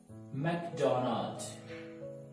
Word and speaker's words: McDonald's: जैसे मैकडॉनल्ड, not like this, Mac मैक मैकडॉनल्ड मैकडॉनल्ड मैकडॉनल्ड। Alright, so next one इज हम क्या pronounce करते हैं, से पिज्जा हट है ना।